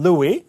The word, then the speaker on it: Louis: to see Marvin Louis talk about our To see Marvin Louis. 뒤에 S 발음 하지 않네요.